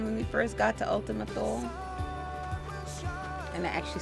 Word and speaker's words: Ultima Thule: How deep we were rolling when we first got to Ultima Thule?